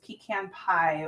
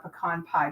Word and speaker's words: pecan: and remember we have this pecan pie or a pecan pie just depending on how you say it half inch bordered ribbon